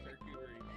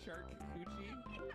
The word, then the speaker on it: charcuterie: Pick some up for your next charcuterie plate. Charcuterie. I don't know how to say that word. Charcuterie. What did you say? Charcuterie. Did you say shark coochie?